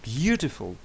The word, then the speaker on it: beautiful: Beautiful. Звісно, буде A, перший склад.